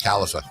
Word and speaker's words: Khalifa: Uh, actually in all this time it's actually pronounced Califa.